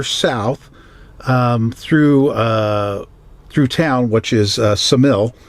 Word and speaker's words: Ksamil: So we headed on a little bit further south through town, which is Ksamil. It starts with a K, but it's like knife. The K is silent, apparently.